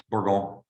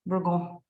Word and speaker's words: Bourgogne: How do you pronounce that? Bourgogne. Bourgogne.